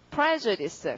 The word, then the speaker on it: prejudice: 그다음에 그 옆에 보시면은 이 단어 발음을 어떻게 하냐면 prejudice 강사가 여기죠. 자, 그럼 prejudice는 여기 강세를 넣어야 되고, 그 다음에 먼저 판결한 거니까 우리가 먼저를 한문으로 뭐라고?